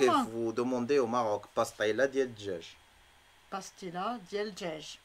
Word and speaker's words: pastilla: pastilla, que vous dites pastilla, que nous on dit pastilla. C'est pastaïla.